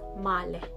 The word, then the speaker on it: male: Male in English, but in Norwegian it is male, to paint or paint.